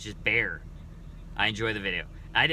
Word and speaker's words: Bexar: the name of also the name Bexar as in Bexar County is pronounced like bear oh okay so it's not beex R it's just bear I enjoy the video